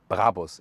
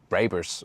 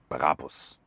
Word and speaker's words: Brabus: By the way, listen and repeat. Brabus. It's not Brabers or something. The original German pronunciation would be Brabus. Really hard German pronunciation.